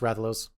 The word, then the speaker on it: Rathalos: It's pronounced Rathalos.